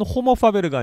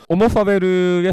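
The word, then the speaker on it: homo faber: 사실은 호모 파베르가 아니고 오모 파베르입니다. H가 묵음이라서 라틴어에서는. 그래서 오모 파베르의 파베르는 뭡니까?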